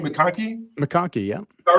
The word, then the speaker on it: McConkie: uh how do you say your last name makoni makoni yeah all right so makoni uh